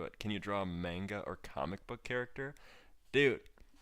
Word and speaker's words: manga: It's pronounced manga.